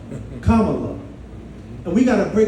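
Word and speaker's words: Kamala: They're telling people to make sure you say her name right. That's right. So we got to break it down, right? Comma, love. Comma, love.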